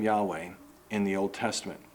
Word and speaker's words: Yahweh: God has one name and the cor correct pronunciation is Yahweh but English speakers kindly say Yahweh so in